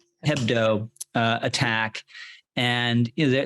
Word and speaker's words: Hebdo: charlie head bow uh head head bow is that how you say it hebdo uh attack and you